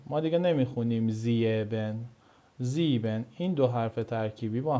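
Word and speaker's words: sieben: حرف ای و ا صدای ای میده. صدای ای میده دوستان. مثل چی؟ مثل مثل مثل زیبن. زیبن. زیبن. مثل زیبن. ما دیگه نمی‌خونیم زیبن زیبن این دو حرف ترکیبی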